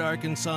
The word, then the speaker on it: Arkansas: On your favorite Arkansas sports talk station.